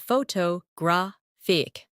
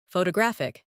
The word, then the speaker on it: photographic: For example, photograph, photographer, and photographic. The stress moves, and that changes the sound. Try saying them slowly after me. Photograph, photographer, photographic.